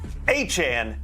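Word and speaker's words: Achane: ATN, not ATN, Achan.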